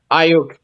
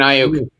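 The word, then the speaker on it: Aiyuk: Ayuk. Brandon Ayuk.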